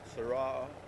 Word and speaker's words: Sarah: Sarah. As in Tara. Tara, Sarah.